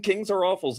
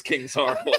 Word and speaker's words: King Sorrowful: About 2 weeks ago, someone's like, I think the name is King Sorrowful. And so this whole time, I've just been saying Kings are awful's name wrong.